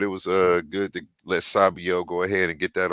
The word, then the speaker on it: Esabio: It's a short A, so it's Sabio, not long Sabio.